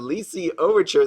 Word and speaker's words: Lycee Overture: Today I'm going to be opening some Lycee Overture. That's actually how you pronounce it.